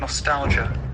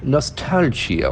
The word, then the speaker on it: nostalgia: s t a LGI see the pronunciation Nostalgia Nostalgia whatever Nostalgia you have the Jew sound also Nostalgia Nostalgia it's a